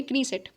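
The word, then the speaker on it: Knesset: legislator तो लेजिसलेच्योर है कोई इसको कनी सेट प्रोनाउंस करता है ठीक है तो यहां पर हम लोग प्रोनाउंस करेंगे कनी सेट तो कनी सेट में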